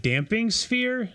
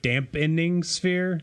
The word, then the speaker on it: Damping Sphere: I reminded you this it is damping sphere not dampening sphere it's damping yes so Chad kept bringing